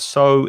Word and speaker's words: sow: And the pronunciation of sow is like S-O, exactly the same.